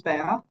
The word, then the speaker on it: Bea: So my name is Bea. um is pronounced as written bay a um I'm an employer